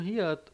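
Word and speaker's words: 히읗: O Hiat, ele tem essa escrita, né, na romanização como H, mas a gente vai pronunciar ele com o som de dois R's, né, que seria o som de dois R's em português, assim como tem, por exemplo, na palavra rua, né, esse som de dois R's.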